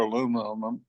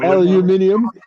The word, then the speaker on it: aluminium: I don't do anything exciting like you guys with brass, or I'm trying to remember the proper pronunciation for aluminum, but How'd you say that? Aluminium.